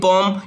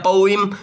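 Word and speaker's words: poem: एक लंबी वर्णन वाली पोम या पोइम, ठीक है ना, जो दो प्रोनाउंसिएशन करेक्ट है, पोम बोल दो या पोइम बोल दो, both the pronunciations are correct guys, ठीक है।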